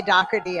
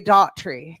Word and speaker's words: Doherty: That is the original way to say my name. In Virginia, they say Daughtry, Daughtry, which is very pretty. That's a pretty way, but Doherty is kind of my home state.